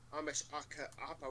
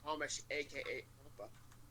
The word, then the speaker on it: Ameshapa: But then I went back on that first one with with Ameshapa, which actually that's not how you pronounce the name. It's Amesh, aka Appa.